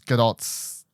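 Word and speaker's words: Gadot: this is G gdos GDOT I found it recently it's actually say the tea apparently I've been saying it wrong for years um galad Do's first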